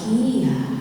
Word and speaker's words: Nia: Is that am I pronounced that? Okay, thank you for asking that. It's Nia.